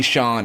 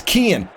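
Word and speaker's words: Cian: Ken. Ken. Oh, so they just put a C instead of a K. It's Kian.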